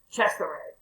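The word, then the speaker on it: Cesare: or something and uh if you ever hear his name in in italian it's pretty cool it's to me it's caesar but it's chester and he had his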